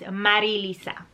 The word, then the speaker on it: Marilisa: I chuckle internally because the way that you pronounce my name is not Lisa, it's Marilisa. Marilisa. And I know for people whose pretty much primary or first language is English, it's difficult to roll your R's.